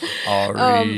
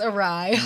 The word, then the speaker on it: awry: Ari. Yeah, so dumb. That's how I used to pronounce it as a kid when I read it in books. It's awry.